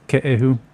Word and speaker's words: Keehu: we've never written it that way, but it's pronounced Keehu.